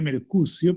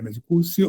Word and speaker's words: Mercucio: Se escribe Mercucio, pero podemos pronunciarlo de la manera, Mercucio o Mercucio.